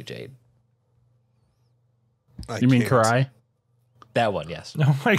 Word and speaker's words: Karai: Leonardo and like homegirl's name who I'm gonna mispronounce, but Kyara. I thought I was gonna mispronounce it. Considering we had a bit of this conversation earlier, I'm going to assume you mean Karai.